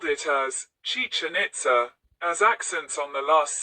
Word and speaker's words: Itzá: The word Itza has a high tone on the a, followed by a glottal stop, indicated by the apostrophe.